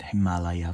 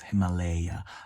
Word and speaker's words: Himalaya: Yeah, I just realized I said Himalaya for the whole video, but the pronunciation is Himalaya.